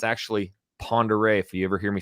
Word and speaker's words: Pend Oreille: It says Pendarelli, but it's actually Pend Oreille.